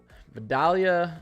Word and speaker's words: Vidalia: Vidalia and Savannah, that's how you pronounce them at around midnight.